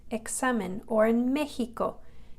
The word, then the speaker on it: examen: But a couple other examples are these words here, examen, examen. It's like a K-S, examen, or in Mexico, it's pronounced like an H, Mexico.